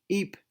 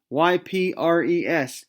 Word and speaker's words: Ypres: Ypres, Y-P-R-E-S, Ypres. I think that's how you pronounce it.